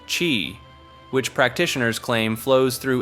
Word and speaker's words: qi: Traditional Chinese medicine calls it qi, pronounced qi, which practitioners claim flows through invisible pathways called meridians.